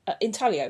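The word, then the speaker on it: intaglio: Um, another thing that I found a lot of is inaglios in drains, and they're little gemstones that Inalio, that's how you pronounce it actually.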